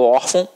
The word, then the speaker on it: órgão: de nasalização até porque se fosse um acento gráfico nós não falaremos órgão nós falaremos ou fogo e não é assim que a gente fala eu falo órgão você também fala órfão então a sílaba tônica tá aqui ó na penúltima então é uma paroxítona terminada